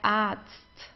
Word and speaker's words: Arzt: Der Arzt. der Arzt. Here we have a vowel and then comes an R. Okay, so in this case we pronounce the R just like an A. Arzt, a long A, der Arzt.